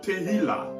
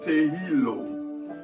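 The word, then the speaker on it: תהילה: Alors, dans la langue hébreu, la louange est tirée du mot Tehila. Alors, il y a d'autres qui les prononcent Tehilo, qui veut dire louange,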